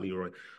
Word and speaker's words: Leroy: friends kibo says Lordi they could never pronounce my name correctly they always said Lordi not Leroy Lordi you don't walk